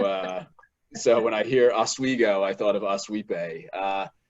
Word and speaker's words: Oswego: college you went to suny oswego is that how you pronounce that that's it yeah that's perfect you know how i